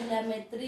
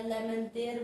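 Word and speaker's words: Lemaître: बोलते हैं, जिसके प्रतिपादक हमारे जॉर्ज लेमेत्री हैं, या लेमेंतेयर बोला जाए, जॉर्ज लेमेंतेयर, या इसी को कुछ लोग प्रोनाउंसिएशन के तौर पर लेमेत्री बोलते हैं।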